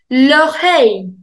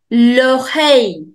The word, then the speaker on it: l'oreille: L'oreille. L'oreille. Whenever you have I double L together in French, you do not pronounce double L. L'oreille.